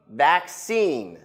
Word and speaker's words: vaccine: same spelling different pronunciation in America we say vaccine the stress is on the last syllable you practice with me